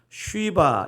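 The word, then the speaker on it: שבא: 이제 써봐 이렇게 번역됐지만 제가 히브리어 언어를 찾아보니까 쉬바 이렇게 되어 있습니다 쉬바 그러니까 영어 성경 같은 경우는 쉬라는 단어가 영어 발음에 있기 때문에 그런데 한국의 발음에 쉬 이런 말을 잘 안 쓰기 때문에 스바로 번역한 것 같습니다 이스바 왕국은 작은 왕국이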